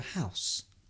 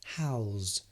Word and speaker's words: house: But if it's on the floor, has a garden, it's called a house. But you can also pronounce it as house. Again, you see the S, house, has become a Z, house.